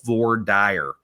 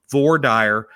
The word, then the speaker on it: voir dire: It's called voir dire. And I know that there's different pronunciations for it, but it's French for meaning something. I don't remember what it was, but voir dire.